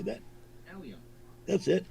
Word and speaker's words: allium: Let's see, how do you pronounce this? Oh, wait a minute. Bulb? Try that again. How do you say that? Allium.